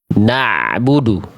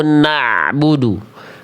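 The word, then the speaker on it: نعبد: Gimana biar bunyi ainnya yang asalnya Hamzah nih di bawah jadi naik ke tengah tenggorokan, naik sedikit ke atas ngeden. Saya selalu bilang mengibaratkan kalau pengin ainnya tepat, coba lebih rasain. Ada ngedennya dulu. Na'budu. Kalau Hamzah kan na'budu di bawah air naikin sedikit lebih perlu lebih perlu lebih effort ya.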